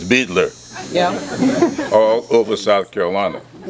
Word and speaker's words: Beidler: of those 83 years I never call it biter right I never even heard that until today it was Beetler yeah all over South